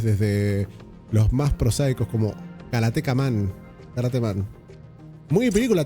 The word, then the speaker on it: Karateka: In Japanese, there's no stress on any syllable, so it would be Karateka, something like that. Suena muy piola en japonés. Karateka. I called it Karateka, but I've since found